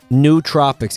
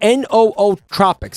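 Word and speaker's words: Nootropics: some of them right new Tropics am I am I am I pronouncing it wrong how do you pronounce that no Tropics New Tropics it's n oo Tropics how many different ways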